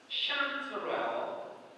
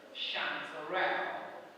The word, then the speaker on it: chanterelle: I'll give you 2 pronunciations for this word, for 13, right? Yes. The first is chanterelle. The second, chanterelle.